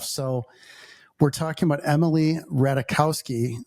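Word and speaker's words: Ratajkowski: So, we're talking about Emily Ratikowski. Rahul told me you don't pronounce the J.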